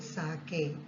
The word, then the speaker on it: sake: How do I get a little sake for my poor old father? Here, sake means a popular Japanese drink. Sa is pronounced like fa in father and K rhymes with way. Okay, sake.